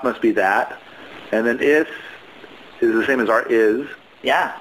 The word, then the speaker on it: ist: Because it's spelled with a T at the end. So the German word is actually ist. But, if you speak it quickly, it's not very emphasized. But that's the reason that it's not a Z sound.